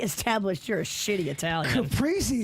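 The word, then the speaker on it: caprese: Capriy is what I would usually say, but I mean, do not say it however you want it. How about that? Oh, okay. Okay. I mean, I think different dialects say it differently. Some people say capi. No, no, nobody says that.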